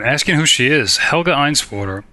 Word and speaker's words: Einswater: Helga Einswater. Spelled with a W, sounds like a V. Okay, Helga Einswater.